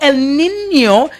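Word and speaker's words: El Niño: So, El Nino and it is spelled E L. It is Spanish. Okay. Nino. N I N O and N has the till day over it.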